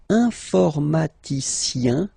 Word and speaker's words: informaticien: All right, and the last group is IEN, informaticien, yin, yin, yin. So that's the way to pronounce this IEN, yin, yin.